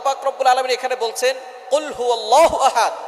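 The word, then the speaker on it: قُلْ هُوَ: আল্লাহ পাক রাব্বুল আলামীন এখানে বলছেন কুলহু আল্লাহু আহাদ। এখানে কফ দিয়ে পড়ছেন কিন্তু অনেকেই ভুল করে উচ্চারণ সঠিক না হওয়ার কারণে তারা পরে কাফ। কুলহু আল্লাহ।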